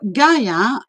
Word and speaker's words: Gaia: forgiving in general so gaia in greek is called yeah and you can hear in the world yeah yeah yeah the same um first syllable as geography or geology so basically her name